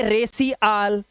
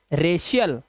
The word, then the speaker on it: racial: अब देखो RACIAL, कई बच्चे से पढ़ेंगे रकी आल, कई पढ़ेंगे रेसी आल। नहीं, सी के बाद IA आया तो ये हो गया रेशियल।